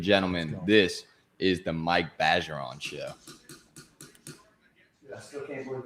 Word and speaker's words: Bergeron: I'm not, and it's pronounced Bergeron.